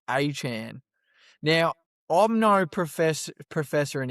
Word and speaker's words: Etienne: come out and said his last name is pronounced Achan.